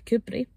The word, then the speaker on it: Kirkcudbright: names it's just uh doesn't quite get pronounced the way it's spelled but when I've actually